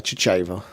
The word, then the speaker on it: Chachava: There's been several different pronunciations of it by people in the past, but the way I've always pronounced it is Chachava, and I just wanted to get that out of the way early.